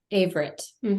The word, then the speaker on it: Averette: And is your last name pronounced Averette? Averette.